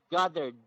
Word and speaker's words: gathered: So gathered. Okay. Gathered. Okay. So you must you must pronounce the D sound.